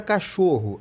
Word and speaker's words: cachorro: temos um dígrafo consonantal da palavra cachorro a mesma coisa ao ch faz o som de x e esses dois erres aqui na verdade tem som de um R só dígrafo consonantal a palavra